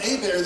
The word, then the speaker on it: Hebert: Pronounced Hebert though. Little Louisiana French for you, I guarantee.